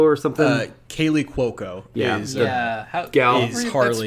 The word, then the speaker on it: Cuoco: that that's i don't remember is it kaylee cucco or something uh kaylee cuoco yeah yeah yeah pronounced she's yeah yeah yeah uh honestly king